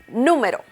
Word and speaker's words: número: Number is número. Número. So the intonation is on the letter U.